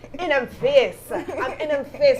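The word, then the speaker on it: In'em Face: And that's spelled in, the I-N-M, apostrophe E-M, face. And if I could put my Jamaican patois on it, in them face.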